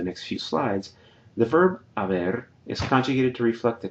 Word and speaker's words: haber: the auxiliary verb haber, notice I don't pronounce the H, haber, and the ado or ido past participle forms depending on whether it's an AR or ER-IR verb.